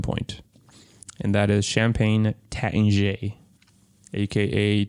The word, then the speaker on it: Taittinger: Well, technically that is the right way to say it in English, but the French say Taittinger.